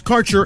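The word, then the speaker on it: Kaercher: Quality cannabis Insurance Services is spelled k AE r c h e r that's carer insurance we have worked with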